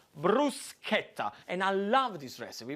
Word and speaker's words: bruschetta: it's called bruschetta now the first lesson is very simple is the way you pronounce it in not bruschetta by is bruce Skepta what you want to put the accent on is this Bruce kepta and I love this